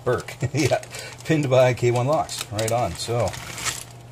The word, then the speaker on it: Brrke: And his challenge lock number one, Brrke, Brrke, pronounced Brrke.